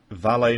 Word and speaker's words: Vale: And teams must now fly to beautiful Sudbury, Ontario, via PEI, and find Valet Mining, I would pronounce it Vale, but whatever, to find